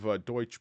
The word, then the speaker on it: Deutsche: you may think of deuts bank or Deutsche Bank depending on how you like to pronounce that um they are old